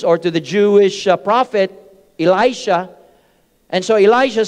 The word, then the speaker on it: Elisha: position of gihazai if you remember how you pronounce that Elijah or Elisha I'm sorry Elisha and Captain neyman asked Elisha